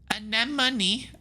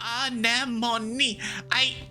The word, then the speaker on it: Anemone: It's either the energetic and loyal enemy, anemone, tough and gentle Cal, bold and confident Mars, quiet and adventurous Dis, studious and mature Tangent, shy and sweet Tammy.